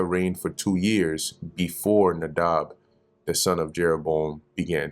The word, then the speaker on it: Nadab: Reign and then comes nadab here it's spelled nadav but it's nadab okay so second king king